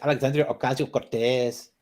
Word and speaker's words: Alexandria Ocasio-Cortez: Oh, and by the way, Frosted, you said her name wrong. You have to say Alexandria Ocasio-Cortez.